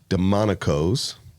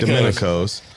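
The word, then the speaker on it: Domenico's: on the square of Murphy's Boro Tennessee called demonos I said Domin Domin dominicos I was going to get you to pronounce it because I always like I hear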